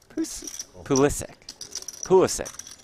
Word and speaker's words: Pulisic: Pulisic.